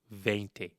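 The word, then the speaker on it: veinte: 17 Dy Ce 18 Di oo 19 Di when we get to 20 it's vente vent 20 is a little bit unique from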